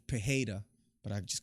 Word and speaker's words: Pereira: Jean waili and then out of Sonya versus Pereira and this out of Sanya versus prayer fight which we haven't talked about or it should be pronounced pajeda but I just call him Pereira I don't